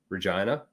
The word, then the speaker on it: Regina: Waskana is in the city that rhymes with fun, Regina.